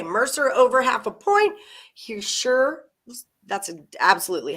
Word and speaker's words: Hischier: Hischier, that's absolutely how you say it.